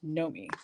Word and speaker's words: Naomi: noi and he goes spelled Naomi but pronounced Nomi and I just thought